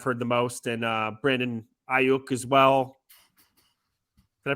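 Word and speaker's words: Aiyuk: Higgins is the guy I've heard the most, and Brandon Ayuk as well. Did I pronounce his name right? It's a little funky at the end, but Ayuk.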